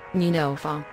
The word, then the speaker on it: Neunelfer: original Porsche 911, pronounced 911, German, Neunelfer, was a luxury sports car made by Porsche AG of Stuttgart, Germany.